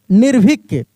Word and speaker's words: निर्भीक: ई की मात्रा और फिर यहां पर र का उच्चारण हो रहा है निर निर तो ये र का जो उच्चारण हो रहा है ना ये रे की मात्रा हो जाएगा और क निर्भिक देखिए यहां पे निर्भिक